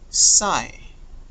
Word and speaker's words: psi: will use this one letter today um namely sai okay you pronounce it aside you are saying because you